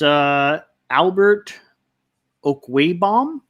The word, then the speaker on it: Albert Okwuegbunam: My sneaky start of the week is Albert Okwuegbunam.